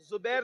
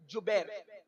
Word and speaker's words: جبیر: کو عبداللہ ابن جبیر، زبیر نہیں بلکہ جبیر، جیم سے جبیر، تھوڑا سا آج کل